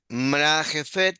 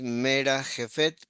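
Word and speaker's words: מְרַחֶפֶת: Elohim, mra jefet, pero es mera jefet, porque la primera lleva se pronuncia mera jefet, al pne hamaim.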